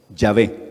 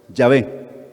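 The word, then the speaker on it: Yahweh: conclusión que tal vez la mejor pronunciación pudiera haber sido ya ve correcto ya ve entonces y eso pues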